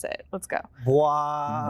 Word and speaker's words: Bwaaa: Bwaaa. Bwaaa. Yeah, something like that. The Yes. noise that Hank Hill makes, so it's like an onomatopoeia.